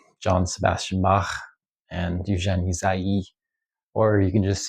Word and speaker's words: Ysaÿe: So I might try to like start pronouncing his name a little more closely to Jacques Say's pronunciation, because I really do think that that's the appropriate way to pronounce his name. So Ysaÿe.